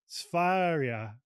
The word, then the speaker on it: Sværia: And her company name is Sparia. You pronounce it please. You you you please so it's just the the rolling R.